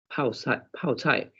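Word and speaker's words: 泡菜: chai chinese fermented cabbage pauchai pronounced pao tai in a traditional fermented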